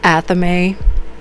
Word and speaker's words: athame: And they explain to her, Grace, you stole the anthem in the library. And she's like, what's an anthem? Athame. My bad, guys. It's pronounced athame.